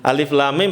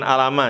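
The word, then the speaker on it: الم: Jadi bacanya jangan gimana kahaya aso enggak alif lam mim bukan alama ya. Apa? Alif lam ro bukan ala ro.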